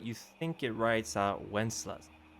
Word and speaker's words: Wenceslas: it says, but you think it writes out Wenceslas, like from the song. How you pronounce it, right? W-E-N-C. Wences? Yeah. I mean, I've heard it called Wenceslas.